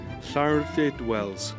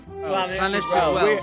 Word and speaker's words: Llanwrtyd Wells: Llanwrtyd Wells. What? Llanwrtyd Wells. Llanwrtyd Wells.